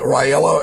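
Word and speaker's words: Raila: campaigning for and i can i can never pronounce his name right ryello it's r a r-a-i-l-a odinga and he's running for the president for the election that's going to occur in 2007.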